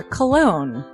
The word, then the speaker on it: Colon: It is a self-published book by Christopher Cologne. Chris Cologne? Smells good to me. But Look at her. That broke that fucking cold little exterior. He's like, hee. But it is spelled Colon.